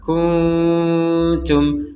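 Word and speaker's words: كنتم: baik di sini ada nun sukun bertemu ta kita bacanya dengan samar kunum kunum jadi dibaca dengan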